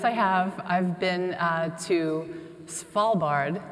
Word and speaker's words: Svalbard: have i've been to Svalbard I got that right spall bard for the it helps if you say it like a pirate or a small bar bard in Spitsbergen Norway so